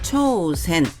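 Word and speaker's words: 挑戦: 예시 단어를 보시면 도전 도발 많이 들어보셨죠 일본어 발음으로는 도전은 초센 도발은 초우 하츠로 하시면 됩니다 쓰는 순성하겠습니다 앞에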